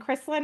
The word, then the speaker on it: Krislyn: And Kristen, I didn't even like double check I'm pronouncing your name right.